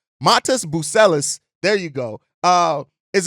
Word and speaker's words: Matas Buzelis: I'm see I I I checked how to pronounce his name Matas buellis there you go uh is a guy that